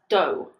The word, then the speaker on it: dough: Pronunciation number 1. O. Like in the word go. This is found in words like although, though, and dough.